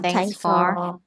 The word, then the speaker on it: thanks: ý là Thanks than người ta sẽ không đọc là th đâu người ta đọc là t sẽ đọc là nghe